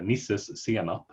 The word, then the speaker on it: nisses senap: It's a Swedish word, essentially. It's a nisses senap. It means nisses mustard. So yeah, you're pretty close there.